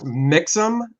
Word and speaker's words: Mixam: The printer is Mixam. That is spelled M-I-X-A-M.